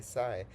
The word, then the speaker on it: psi: Schrodinger's equation gives us a variable which is pronounced as the psi and denoted as shown in the figure.